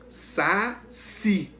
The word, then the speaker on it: saci: Saci. Qual é que a gente pronunciou com mais força? Sílaba tônica. Si, a última.